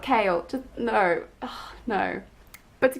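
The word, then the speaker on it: Chaol: It's just But if I'm being honest, I'm kind of voting for Cole, and yes, I know that it's not pronounced that, it's pronounced Kale, but I don't want to associate the Captain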